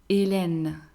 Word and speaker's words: Hélène: Hélène.